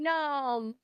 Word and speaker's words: gnome: alliterations right like Noy gnome by the way no one can spell gnome to save their lives like no one knows that there's a silent G in Gnome but we've already clarified